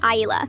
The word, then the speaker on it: Isla: My daughter's name is Isla, pronounced Isla.